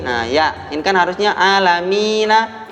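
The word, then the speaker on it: العالمين: Nah, ya, ini kan harusnya alamina. Alamina ini mad tabi'i. Akan tapi dia bertemu dengan waqaf. Maka dibaca panjang. Alhamdulillahi rabbil alamin. Gitu. Bacanya 2, 4 ataupun 6.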